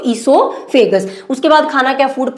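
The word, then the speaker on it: oesophagus: तो यहाँ पे ओ क्या साइलेंट रहेगा, क्या बोलेंगे इसको ईसोफेगस।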